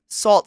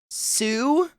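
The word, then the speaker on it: Sault: It salt staint Marie.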